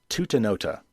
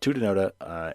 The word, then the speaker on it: Tutanota: It's called Tutanota, and that is spelled Tutanota.